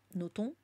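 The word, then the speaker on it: Nothomb: sœurs de Amélie Noton Noton qui paraît qu'il faut pas prononcer le B euh et donc oui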